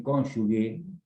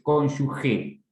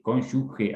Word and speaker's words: cónyuge: Una cosa que digo, y lo pronuncié adrede, cónyuge, porque algunos dicen cónyuge, mal dicho, porque no hay diéresis. Es cónyuge, G-E, cónyuge, así se pronuncia, ¿está?